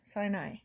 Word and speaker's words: Sinai: Sinai.